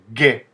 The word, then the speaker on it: Г: avec cette lettre là on peut faire que G comme gâteau par exemple c'est la